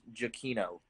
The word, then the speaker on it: Giacchino: incarnation of Space Mountain, his last name is actually pronounced Giacchino.